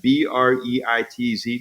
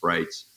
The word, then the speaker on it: Breitz: my brand name and so b r yeah B REI TZ doesn't mean anything it's not doesn't mean anything